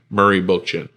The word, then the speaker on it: Murray Bookchin: And his last name is spelled Book, like book, and chin, Chin. So Murray Bookchin.